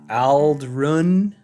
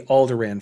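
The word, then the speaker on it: Ald'ruhn: Like the town of Aldrun. It will always be Aldderan from Star Wars for me.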